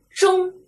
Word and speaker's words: 蒸: 不敢读成真啊真应该读成蒸蒸啊蒸。